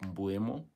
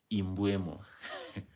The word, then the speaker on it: Mbeumo: Man like Mbeumo, yes. Wazungu call him Imbuemo. I don't know why why do they like adding E or I before the name?